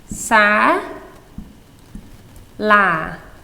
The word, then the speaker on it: សាលា: School is easy to say. Sa, la. These words rhyme. These syllables. Sala, sala. The la is accented. Okay, so tana, ខ្ញុំទៅសាលា or ទៅសាលា I'm going to school.